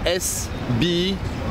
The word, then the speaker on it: Sbah: You want to spell it for you? It's S-B-A-H.